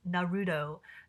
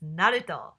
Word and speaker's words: Naruto: weird it is weird I will never forgive them for pronouncing Naruto as Naruto Naruto sounds like a bowl of noodles it's Naro all right um ramen houses